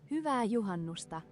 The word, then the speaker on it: Hyvää Juhannusta: Hyvää Juhannusta. Hyvää Juhannusta. Hyvää Juhannusta. Hyvää Juhannusta. Hyvää Juhannusta to our Finnish viewers.